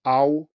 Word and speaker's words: ao: So the next one is spelled A-O in pinyin, and it's pronounced ow, ow, ow. So maybe you can hear that this ah sound is further back.